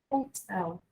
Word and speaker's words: hotel: Só que a gente vai pronunciar hotel. Somente isso. Sendo a sílaba tônica a última, ok?